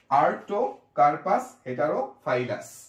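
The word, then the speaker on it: Artocarpus heterophyllus: সো আমরা লিখি আগে আর্ট, তারপরেও আর্টো কার পাস হেটালো ফাই লাস কি হলো আর্টো কার্পাস হেটারো ফাইলাস। এরপরে শব্দটা হচ্ছে শাপলা। ভিডিওটা কিন্তু কয়েকবার দেখতে হবে, কয়েকবার দেখলে উচ্চারণগুলো একদম ক্লিয়ার হয়ে যাবে এবং খাতায় কিন্তু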